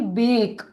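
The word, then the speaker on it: bake: ए का नाम लूंगी और ई को भूल जाऊंगी, तो मेरा शब्द होगा बी ए के ई, बेक। बेक, ई को मैंने भूला दिया और ए का मैंने नाम लिया।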